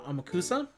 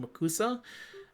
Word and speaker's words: Amakusa: Uh, Amakusa, which I keep fighting the inner spirit inside me to call him Umakusa.